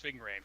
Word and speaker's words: Ving Rhames: Ving Rhames, that's how you say his name.